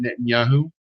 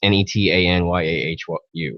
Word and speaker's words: Netanyahu: at Benjamin Benjamin 10 it's not Netanyahu s I it's neta nyeh want you right it's an epi